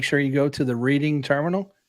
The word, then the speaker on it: Reading: How do you spell read, and then how do you spell red?